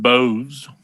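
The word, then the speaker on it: Bose: check and see if you can make some boss headphones eat spiders it's pronounced bows okay uh let's take a five minute break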